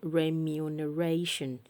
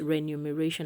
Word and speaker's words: remuneration: women the plural form of woman women is pronounced women women all right about this word r e m u n e r a t i o n remuneration remuneration i used to call this renumeration i don't know where i got that from